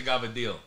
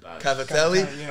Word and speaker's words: cavatelli: Wait, I like the gavadil. Gavadil. Cavatelli?